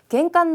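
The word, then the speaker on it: 玄関: 겐간이라고 있습니다. 현자 겐으로 꼭 탁점 넣어주시고요. 겐간 노마에데 다레가 이루미타이 데스.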